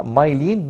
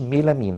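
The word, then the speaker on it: myelin: او يعني البرونسيشن بتاعها مايلين مش ميلامين، ناخد بالنا كويس قوي.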